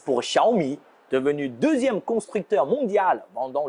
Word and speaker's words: Xiaomi: voilà l'inspiration x pour xiaomi devenu deuxième constructeur mondial pendant le plus de smartphones en 2021 x ampigny se prononce comme ch en français il signifie petit en chinois me c'est le riz schumi c'est petit rire autrement